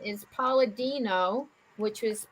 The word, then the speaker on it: Palladino: Okay, So they went and visited the psychic medium Usapia, which is spelled Eusapia, and his last name is Palladino, which was Palladino.